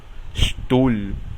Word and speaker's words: Stuhl: La combinación de letras SP suena SHP y la combinación ST suena SHT. Por ejemplo, spielen, jugar, o Stuhl, que significa silla.